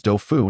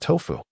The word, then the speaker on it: Dofu: My name is Dofu, not Tofu.